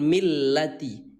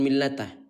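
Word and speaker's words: مِلَّةَ: Ya, iya itu udah betul millati. Ya, millati bukan millata.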